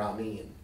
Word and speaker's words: Amen: Properly pronounced Amen or Amen.